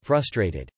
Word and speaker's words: frustrated: thanks for the awards my boyfriend doesn't pronounce the first R and frustrated he sounds like a child and it's well frustrating